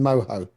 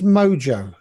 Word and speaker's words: Mojo: pronunciation there where's the H in Moho it's mojo it could be mojo like people who call